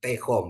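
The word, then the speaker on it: תְּהוֹם: Misalnya ya, dalam bacaan di ini ada kata tehom ya, tehom ya. Ini tehom ya. Jadi dia bacanya pendek ya, E pendek dia. Jadi E pendek. Jadi bacanya tehom ya. Tehom ya. Jadi E-nya pendek ya.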